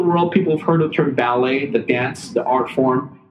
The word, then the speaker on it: Ballet: so we it's pronounced ballet ballet as in the dance as in the art form people dance ballet uh the performance art but not ballot so it's not it